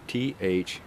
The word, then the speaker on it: Thrw: Now, the Thrw is spelled T-H-R-W. They knocked the O out of the Thrw.